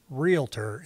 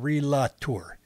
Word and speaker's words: realtor: class action lawsuit uh needs to learn how to say realtor instead of realator if you're going to sue Realtors pronounce it right realator everybody does it